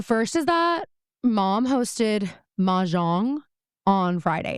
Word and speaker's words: Mahjong: Is that how you say it? Yeah, Mahjong. Okay, I think you can say it a little bit more like just Mahjong. I think you can like be a little bit cooler about it, Caroline.